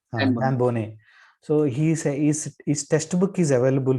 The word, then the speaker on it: Dan Boneh: So the best source for it is that Danba, I am not pronouncing properly. Dan Boneh.